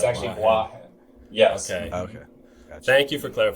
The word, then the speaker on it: Boahen: It's the accent on Boahen is on bois, not the hen. Okay, I messed that it's up. actually Boahen.